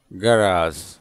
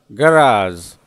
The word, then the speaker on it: garage: उसका स्पेलिंग है GARAGE, गैरेज, जिसको रॉन्गली प्रोनाउंस करते हैं गैरेज। तो उसका सही प्रोनाउंसिएशन क्या होना चाहिए? गराज, गराज। और गैराज।